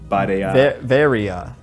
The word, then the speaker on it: Varia: It's just a mistranslation of barrier suit in Japanese. Oh my god! So I guess it should be pronounced Varia.